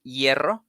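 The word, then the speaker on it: hierro: like for example in yerro yerro it's a word that means iron and starts with an h that way it's not uh pronounced but in the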